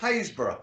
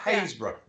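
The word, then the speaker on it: Happisburgh: Iceberg no it's not it's pronounced hayesboro I was gonna say I was gonna say um Hasbro another's pronounced Hayes bro they've got a lighthouse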